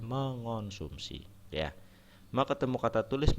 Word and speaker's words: mengonsumsi: penulisannya terutama dan pengucapan jadi ada imbuhan me terutama yang bertemu dengan huruf awalnya KTSP itu dia luluh Lul itu lebur ya penulisannya seperti kata me ketemu kata kuat tulis dan sebagainya nah sehingga harus diperhatikan kalau temu kata kuat menjadi menguat ya dia luluh ya Tidak mengkuat sehingga ada kata mengkonsumsi salah harusnya mengonsumsi ya me ketemu kata